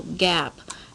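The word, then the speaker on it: GAAP: we do is follow gap now gap is spelled over here generally accepted accounting principles it's called gap and gap are the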